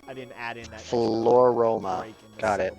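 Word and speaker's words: Floaroma: Floroma. Got it. Like aroma and floral.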